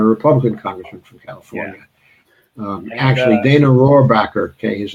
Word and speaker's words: Rohrabacher: from California a Republican congressman from California actually dana rohrabacher okay his name was and he's a he